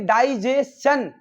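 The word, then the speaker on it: digestion: और एक बात और बताई कि अगर एस के बाद TION आता तो भाई सजेशन पढ़ा जाता है, ना कि सजेशन। ऐसे डाइजेशन, सजेशन, डाइजेशन, एस के बाद TION आए तो चन पढ़ते।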